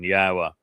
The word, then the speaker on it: Yahweh: Um where both tell us how to pronounce Yahweh's name, the W uh is the O sound in Torah. That's where it comes from. And the hey is the ending of uh of Torah.